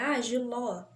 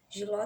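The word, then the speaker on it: jiló: Então, se eu falo assim, Giló, Giló tem acento.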